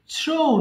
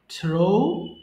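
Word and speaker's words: threw: করা ছাইড ছিট ছিডেন থ্রো নিক্ষেপ করা থ্রো থ্রু থ্রোন তাহলে এটা কিন্তু থ্রি বলবো না কি বলবো থ্রু বলবো ওকে আমরা এটাকে ভুল করে থ্রি বলে ফেলি remember it's নট থ্রি okay বেশিরভাগ সবাই ভুল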